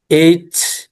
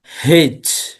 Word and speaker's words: H: টি ভি ডাবলিউ জেড নীল রঙের অক্ষরগুলো উচ্চারণ দুভাবে করা হয়। যেকোন একটু উচ্চারণ মুখস্ত করলে হবে। এইচ হেচ এইচ কে এইচ উচ্চারণ করা যায়।